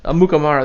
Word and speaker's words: Amukamara: jersey maker spells Akutamara's name right, if I pronounce it right. Prince Amukamara. Amukamara, there you go.